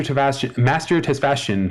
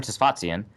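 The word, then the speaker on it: Tesfatsion: Judd Zolgad's hoodie writes us, can we make Master Tesfashion stop watching our games this year, and how do we make this happen? I mean, you could have asked me for the pronunciation beforehand. Master Tesfazian. Tesfazian.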